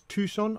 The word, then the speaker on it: Tucson: I've been asked to explain the word or to pronounce the words. It's Tucson, obviously, Tucumcari, Techepi, and Tonopah.